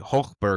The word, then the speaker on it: Hochberg: So, more than likely it was uh, like Hulkberg or something like that. Exactly. That's exactly how you say it in German.